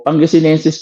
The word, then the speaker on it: Pangasinenses: Opo, Pangasinenses po kasi ang pronunciation, baka magkamali po tayo.